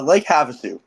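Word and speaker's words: Lake Havasu: Wait, Jack, how do you say this? Uh uh Lake Havsu, thank you.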